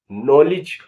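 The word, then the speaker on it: knowledge: माने फेफड़ों की सूजन आपने देखा कि इन शब्दों के प्रथम अक्षर का शब्द में उच्चारण नहीं है अब इन शब्दों का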